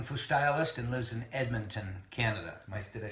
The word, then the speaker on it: Edmonton: By the way, Jeff's a Kung Fu stylist and lives in Edmonton, Canada.